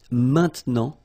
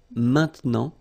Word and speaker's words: maintenant: And then maintenant, okay? Normally we tend not to pronounce this e, okay? So we get this maintenant, maintenant, okay?